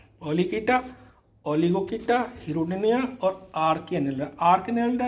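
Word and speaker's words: Polychaeta: पॉलीकीटा, उच्चारण सही होना, पॉलीचीटा नहीं है, कीटा बोलेंगे।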